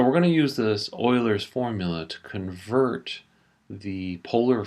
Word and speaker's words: Euler: this is called ul's formula it's also it's pronounced Oilers formula but most people pronounce it uler for some reason um and it uses a